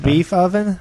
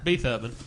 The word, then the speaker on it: Beethoven: Did you call him Beef Oven? Beethoven. That's how it's spelled.